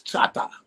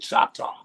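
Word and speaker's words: Chahta: on my mother's side my family is Chata which is shot it's shout out but people pronounce it Choctaw Indian and on my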